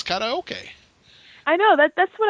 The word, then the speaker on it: karaoke: say the English pronunciation karaoke mm-hmm it's kinda okay okay yeah kinda okay is how it's pronounced in Japanese but everybody in my hometown would sit karaoke like well it's kind